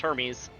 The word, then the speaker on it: Hermes: Clear clearly named after the Greek god uh which is pronounced Hermes.